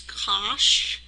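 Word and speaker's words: cosh: we call cinch uh the way we would pronounce this is cinch this is Kos um this is tan uh this is Coan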